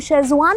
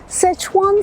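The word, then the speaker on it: Szechuan: मालिक था वो भी शेजवान ही बोल रहा था। अरे तो वो गलत बोल रहा था, तो आप गलत नहीं बोलोगे। सेचवान सॉस आपको सबसे अच्छी लगती है, सेचवान सॉस।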